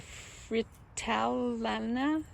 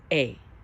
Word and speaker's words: Fritillaria: They're a fritillana. I'm saying it wrong. Let me try that again. Fritillaria.